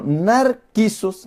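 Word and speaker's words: νάρκισσος: Pero narquisos, la palabra narciso, lo que decimos narcisos, es narquisos en griego. O sea, así ve como lo escribieron. Y se pronuncia narquisos, que viene de narco.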